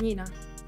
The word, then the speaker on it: Nina: You say Nina? Nina. It's Nina.